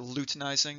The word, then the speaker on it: luteinizing: Some people pronounce it luteinizing. That's how I was taught, actually. But as I've aged, I've started saying luteinizing because I've heard it a lot.